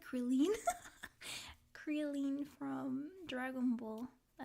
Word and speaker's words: Krillin: In Japanese, kuririn. Did you watch it in Japanese? You're actually closer to Japanese pronunciation. Yeah, it's because I think in Spanish it's krillin, like in at the end.